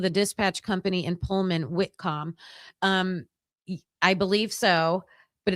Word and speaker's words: Whitcomb: So, the author's name is w h i t c o m b like comb, like comb your hair.